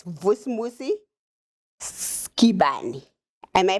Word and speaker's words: Skibane: Here with me, it's Vusi Skibane. Am I pronouncing it correctly?